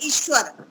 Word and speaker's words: ईश्वर: जैसा कि हम ईश्वर है तो उसमें दीर्घ ई है, ईश्वर, उस पे मात्रा आती है ऊपर, लेकिन ज्यादातर लिखते हैं ईश्वर, ह्रस्व ई लिखते हैं ईश्वर, लेकिन वहां पर दीर्घ ई है, ईश्वर।